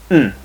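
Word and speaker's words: ん: paired with a vowel, the last one is just pronounced n. Like in run, run, okay?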